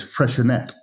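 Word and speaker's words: Freixenet: Well, I mean, the correct way is freshet. So like Catalan, right? Because it's Catalan.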